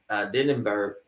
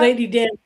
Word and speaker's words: Danbury: And this is when Lady Denenberg, what's her name?